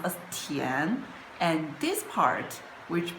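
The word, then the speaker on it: 田: A Li, this character, is combined with this part, which pronounced as Tian, and this part, which pronounced as Tu.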